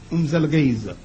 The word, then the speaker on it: Umzelgeza: You have to say it fast or you will say it wrong. Umzelgeza.